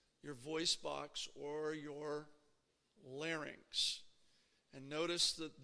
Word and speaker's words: larynx: voice box or your larynx and notice that this word is pronounced just like pharynx isn't it again this is one of those words that is commonly mispronounced many many people will say larnix okay it's not larynx